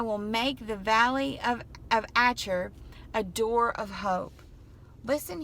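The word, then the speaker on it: Achor: The valley of, and actually I think it's Asher is the way it's pronounced.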